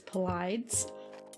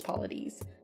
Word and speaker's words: Paulides: podcasts for interviews and as he introduces himself he says Pilates so I'm gonna say Paul ladies or Pilates right um I know some people just read it phonetically as polids um but I'm pretty sure it's polities um he is one